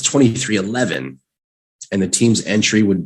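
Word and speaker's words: 23XI: was confirmed to be 23 xi racing i'm sorry to pronounce 23-11 and the team's entry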